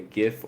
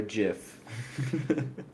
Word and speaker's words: GIF: official canon, because Wizards of the Coast is very cheeky, and you can play a GIF or a GIF.